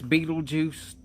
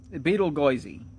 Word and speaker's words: Betelgeuse: That's Beetlejuice to most people, but I'm not doing that. Betelgeuse. We just aren't saying Beetlejuice that many times. Betelgeuse. And I like doing that because it's spelled Betelgeuse, which is a way to go Goisey.